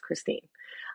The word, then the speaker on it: Kristin: born in Germany um so you don't have the e at the end of your name and it's pronounced Christine um when I was 12 years old my parents um moved to Canada um and then ever since then the confusion of is it Kristen is it Christine came in um I